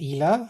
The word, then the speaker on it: Ila: So, I would say that this game, and I'm glad that we now have the pronunciation right, which is ELA.